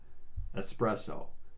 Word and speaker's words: espresso: the list um one that i hear pretty mispronounced a lot espresso it's not express yeah i'll have an espresso well now that you've said that this isn't